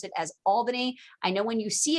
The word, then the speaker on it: Albany: said a million times albany it's pronounced albany you have to pronounce it like a good new yorker albany new york the seven